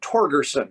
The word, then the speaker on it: Torgersen: It is Torgersen, correct? Oh, correct. All right. I've heard it pronounced a lot of different ways.